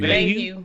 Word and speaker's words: Mayhew: Mayhew.